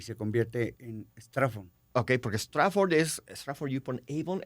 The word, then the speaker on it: Straffon: Se escribe Strafford. Acá ven. Strafford.